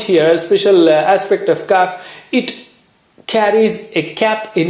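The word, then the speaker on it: ك: how do you say calf it's just like K of English that's the inner part of the tongue to the roof of the mouth right at the back cut this is kaf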